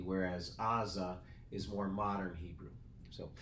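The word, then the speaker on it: עזה: we call um Gaza Israel calls Aza okay because that silent letter at the beginning of Aza probably used to have more of a guttural sound so so our Gaza is probably closer to the ancient name of the city whereas Aza is more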